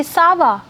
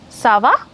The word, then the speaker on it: ça va: You can just say ça va. The difference is ça va, ça va. See, the intonation is different. For the question you have ça va.